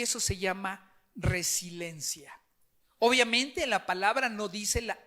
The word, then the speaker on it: resiliencia: la mayoría está lo pronunciamos más mal pronunciamos resiliencia y no es residencias resiliencia y al buscar un poquito